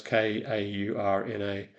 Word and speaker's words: Kaurna: Um the the Kaurna people pronounce k a u r n a.